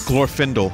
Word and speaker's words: Glorfindel: the part where Glorfindel that's how the the I bow we said Glorfindel but the narrator pronounces it gloor findell I'm like oh that's a little bit more elvish but we're yeah he